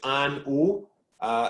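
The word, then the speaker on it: An Oa: do on zoom actually you don't pronounce this final a so it's just an uh and if there's two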